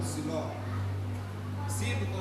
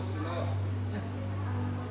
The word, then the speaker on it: Siló: Ela não tava grávida quando ela ia chorar lá em lá em Sido ou Siló. Sciló, as duas pronúncias são aceitas.